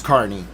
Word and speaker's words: Carney: So it's hard to remember Carney, but if I think of a car, when I say the name, I can say it right. So forgive me if I slip. I'm working on it. But it's Carney.